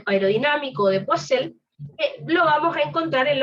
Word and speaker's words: Poiseuille: Recuerden que se escribe Poiseuille, se pronuncia Poiseuille.